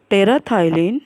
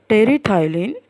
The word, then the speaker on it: terephthalate: It is in short known as the PET, but full form of is polyethylene terephthalate polyester. So here PH is silent. So it is polyethylene terephthalate polyester.